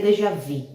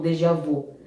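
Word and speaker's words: déjà vu: Dejavu ele Dejavu né a pronúncia correta seria seria dejavi né mas muitos de nós conhecemos como como Dejavu aquela sensação de que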